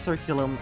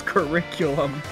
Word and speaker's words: curriculum: anyway with our robust circulum and coursework helps our students strong potential okay bright let's take a moment to talk about your pronunciation shut up that word was curriculum not circulum shut up wait I